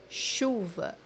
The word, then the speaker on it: chuva: For example, the word rain, which means in Portuguese chuva, chuva, chuva. As you see here, the digraph CH is pronounced as SH in English.